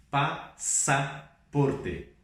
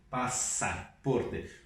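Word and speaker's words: pasaporte: Por exemplo, é assim que se escreve em espanhol, mas nós não lemos passaporte, nós lemos passaporte, passaporte, como se fosse dois S's.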